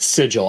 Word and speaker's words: sigil: pronounce it sigle sigil I've always pronounced it sigil I think sigil is a better name for plan escapes I know the true pronunciation is sigle but I um I